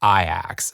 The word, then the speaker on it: Ajax: the Youth Academy at aax spelled like Ajax the most successful Club